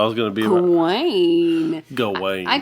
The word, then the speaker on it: Gawain: But so the story I'm covering is James, you're going to correct me on my pronunciation. Oh, okay. Well, I was going to be Gawain. Gawain. I call Gwen that sometimes.